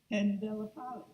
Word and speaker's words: Pandellapalli: So that was very good pronunciation of my name right away. It took me almost 5 years plus time to get all the L's and I's in the right form.